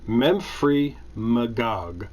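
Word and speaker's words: Memphremagog: play that game a winter swim on lake memph from agog that's how you pronounce that memphry magog mount for magog home of memphry a reported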